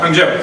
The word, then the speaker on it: Hangzhou: And I went to Hangzhou, is that how you say it? Yeah. Hangzhou.